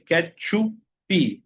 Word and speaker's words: ketchup: Porque si la palabra extranjera termina en consonante, imaginariamente ustedes tienen que agregarle una i a la sílaba, ¿okay? Por ejemplo, catch chupi. Okay. Ketchupi.